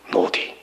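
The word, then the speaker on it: נֹדִי: 노디. 노다가 아닌 노디예요.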